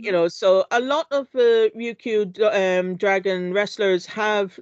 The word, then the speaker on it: Ryukyu: Ryukyu Dog Dingo. Yeah. So Ryukyu is like the traditional name for Okinawa. So he's like, Hmm. so a lot of Ryukyu dragon wrestlers have names which are related to Okinawan culture.